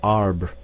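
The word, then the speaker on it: arbre: a piece of bark he learned from darno that it was pronounced um and in the same way he was taught to pronounce ape San and tree AR he was a most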